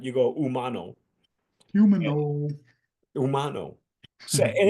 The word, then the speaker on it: Humano: If you want to go you want to go gringo on it, go Humano. But in in Spanish, the H is silent. You go umo. Humano. Umano.